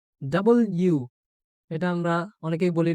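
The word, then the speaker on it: W: Double you. এটা আমরা অনেকেই বলি ডব্লিউ বা ডাব্লিউ বলে অনেকে, কিন্তু এটা হচ্ছে দেখো একটা ইউ আর একটা ইউ, এটা ডাবল ইউ, তাহলে ডাবল ইউ।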